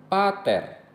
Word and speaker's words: pater: Pada kata-kata yang terdiri dari dua suku kata, penekanan diletakkan pada suku kata pertama. Misalnya, pater, mater, terra.